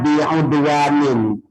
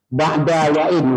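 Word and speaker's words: بعدوان: Ini ada orang satu orang di FDI berapa tahun yang lalu tulisannya bi'udwanin, dibacanya ba'da wa'in Ustaz, ba'da wa'in 15 kali. Saya bilang salah, dicari lagi ba'di wa'in.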